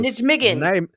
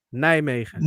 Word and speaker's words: Nijmegen: That's Nijmegen, not yeah. how you would pronounce it in America Yes. if you Yes. sound it out.